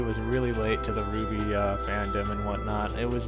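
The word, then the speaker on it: RWBY: my all-time favorite show is Ruby r WB y in case you don't know you know spell the shits some people don't even know how to pronounce it some people will say our wby for some reason but this show I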